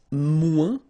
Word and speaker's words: moins: Then if you want to say less, it's moins in French. So no discussion about the S here. Don't pronounce it.